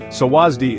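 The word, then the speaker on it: สวัสดี: Sawasdi is pronounced sawasdi, with the emphasis on the second syllable.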